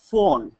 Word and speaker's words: phone: So the ph sound ph has an f pronunciation.